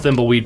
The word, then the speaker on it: Thimbleweed: Yeah, I gotta check out Thimbleweed Park. I'm pronouncing that right?